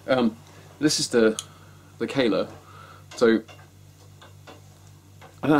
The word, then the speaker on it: Kahler: had a kayla um i always used to think it was pronounced carla but it's not it's pronounced kayla um and the reason